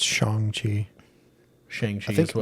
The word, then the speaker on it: Shang-Chi: Yeah, in Shang-Chi, he was fighting Wong.